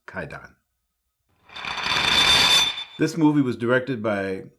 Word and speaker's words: Kwaidan: masterpiece of supernatural horror quite done or actually you should be pronounced KY done this movie was directed